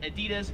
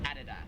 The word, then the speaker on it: Adidas: aren't i apparel company in america we would pronounce this out of this as adidas however here in australia it is adidas one thing i want